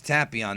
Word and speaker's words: Tapion: idea how powerful is tapon uh I did a video about tapon Dragon Ball in Def 21 all about tapion and yeah folks it's tapon not tapon um somebody actually said